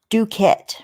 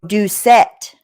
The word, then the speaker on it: Doucette: Duquette, right? Duquette or no? Oh, Doucette. Doucette. I'm pronouncing it wrong.